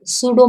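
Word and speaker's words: pseudo: 15 पे बढ़े तो अब सूडो मैच्योरिटी, जिसको हम हिंदी में बोलते हैं मिथ्या परिपक्वता। This stage is also called a period of सूडो maturity. यहाँ पे पी साइलेंट होता है, पसूडो नहीं बोलेंगे, सूडो, सूडो मैच्योरिटी।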